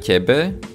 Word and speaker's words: tebe: So aj tebe, we can see again, it's pronounced like tebe, although we don't write this upside down big.